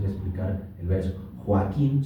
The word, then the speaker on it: Joaquín: Joaquín son tres sílabas. O aquí, porque no en esa en esa en esa conjunción de o y a ninguna de esas dos es ni i ni u, entonces no se forma el diptomo, entonces las separamos.